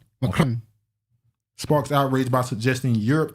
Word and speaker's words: Macron: How you say it? I say it like the French. Macron.